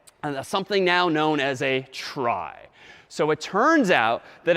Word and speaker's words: trie: a fancier tree and it's short for retrieval but pronounced try for weird historical reasons but a try is a tree each